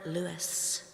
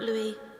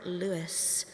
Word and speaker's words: Louis: out of the room they call him Robert Louis not Robert Louie Robert Louis they know how to pronounce his name because they say it